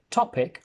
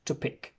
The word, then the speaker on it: topic: So I say topic on the first syllable and not to pick, which would be on the second syllable.